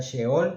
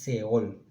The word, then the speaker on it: Sheol: La primera es Seol, que se escribe con una H entre la S y la E. Se podría pronunciar Sheol, pero no es una pronunciación correcta, sino es Seol.